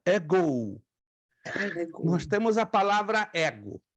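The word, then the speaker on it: ἐγώ: é a primeira pessoa no singular no grego ego ego Ouça a minha pronúncia ego nós temos a palavra ego escute nós temos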